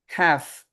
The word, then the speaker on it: half: half.